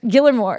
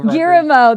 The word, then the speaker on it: Guillermo: Say his name, Gilmore. I can't say it right, but you know Guillermo.